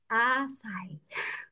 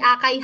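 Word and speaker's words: açaí: Paano daw i-pronounce asay? Hindi akay ha.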